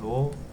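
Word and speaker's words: ρ: R은 로. 참고로 얘는 이렇게 쓰고 로라고 읽습니다. 로. 여기서 읽고요.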